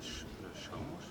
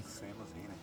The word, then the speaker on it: Seamus Heaney: You were nominated together with U2 and Sinead O'Connor and Shomush, is that correct pronunciation? Shomush Haney? Seamus Heaney? Seamus Heaney.